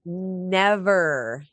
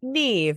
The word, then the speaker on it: Neve: Well, I thought it was so funny that you mispronounced her name. Neve. I've always said Neve. I guess I have been saying her name wrong since the 90s.